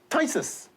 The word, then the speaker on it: phthisis: Then we have phthisis. P-H-T-H is pronounced as T.